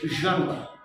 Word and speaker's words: genre: দেখেন, অ্যাকসেন্ট আপনার নাও থাকতে পারে, যেমন জনরা, আমরা যেটা বলে থাকি যে আমরা এটা উচ্চারণ করে থাকি, জনরা মানে ঘরানা, GENRE, এটা হচ্ছে জনরা, উচ্চারণ হচ্ছে জনরা।